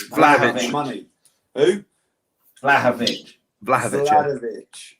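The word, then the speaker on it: Vlahović: Vlahovic. It's Vlahovic. I need phlegm for that, do I? It's basically Vlahovic without the D.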